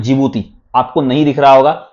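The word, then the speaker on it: Djibouti: Okay यह है आपको यमेन और यहां पर एक कंट्री है इसका नाम है जिबूती। आपको नहीं दिख रहा होगा तो मैं स्पेलिंग ले लेता हूं इसका।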